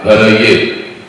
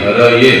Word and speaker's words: हरये: तो जब भी हम इस भजन को गाते हैं तो वो उसका प्रोनाउंसिएशन हरि हरये ऐसे ही होना चाहिए, हराया नहीं।